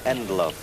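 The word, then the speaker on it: Ndlovu: I think the name is pronounced Endloaf, but we will have to consult our friends at Commentary City.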